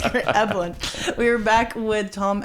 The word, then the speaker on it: Eblen: Eblen.